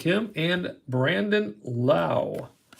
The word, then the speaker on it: Lowe: And Brandon Lau. Not to be confused with Lowe, Josh Lowe. So they have the same spelling of their last names, but they are pronounced different. Lowe and Lau.